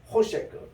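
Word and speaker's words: חֹשֶׁךְ: 호셰크 이게 코라는 것이 케이트의 콜룸이 있어서 셰크 쉰 다음에 여기에 쇄골이 있습니다. 그래서 세크라고 발음합니다. 호셰크 이 어둠이 알프네 표면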